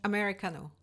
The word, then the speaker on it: Americano: yeah so I mean like even Americano is just pronounced it's the same word and use it the exact same way but you pronounce it more Korean MH than I would as Americano mhm yeah so Americano